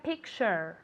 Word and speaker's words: picture: Mucho cuidado con la pronunciación de picture, ¿ok? Porque aunque se escribe con una T ahí, no se pronuncia la T. Se pronuncia como si fuera CH, ¿vale? Y como si tuviese una A realmente al final ahí.